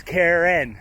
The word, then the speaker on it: Karen: cairn yes cairn and the person is karen as in two syllables we saw some cairns